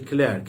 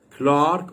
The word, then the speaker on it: clerk: Some people pronounce it a clerk. It's acceptable, by the way. Clerk or clerk.